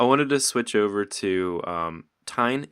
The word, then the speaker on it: TEGN: I wanted to switch over to TEGN. Is it pronounced TEGN? Yeah, that's perfect. Could you talk about that project?